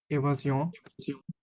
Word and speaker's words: évasion: évasion, এ, এই যে দেখেন শুরুটা এ, ভা, জি, মাঝখানে এস আছে, তাহলে জি, অ, ও এন থাকলে অ, তাহলে এ ভা জি অ, এভাজিও, এভাজিও।